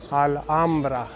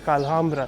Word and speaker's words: Alhambra: We took our first steps in the Alambra. That's what Bianca said, so I said stop saying Alambra, say alambra because you don't pronounce the h.